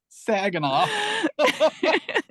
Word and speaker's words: Saginaw: Saginaw.